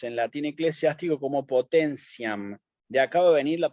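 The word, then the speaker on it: potentiam: palabra la leemos en la tiene eclesiastico como potencian de acabo de venir la palabra potencia en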